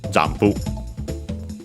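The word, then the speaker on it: ジャンプ: Notice again the m pronounced as m, because then we have the p, just like in English, jampu. Of course, the additional u at the end, because we don't have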